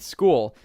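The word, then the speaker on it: Skool: Now, as for the actual websites to find these products on, I recommend taking a look at a website called School. It's spelled S K O L.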